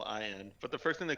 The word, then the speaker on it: Allin: Darby I don't know that I Allin. ever cared to Oh, look that I up. spelled it wrong. But so I spelled it Allen, like Tim Allen. It's apparently Allen, Allin.